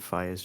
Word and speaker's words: Faiyaz: How do you pronounce It's Faiyaz? literally Faiyaz?